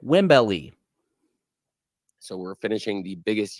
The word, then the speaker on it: Wembley: Hulk Hogan taught me that it is pronounced Wembley.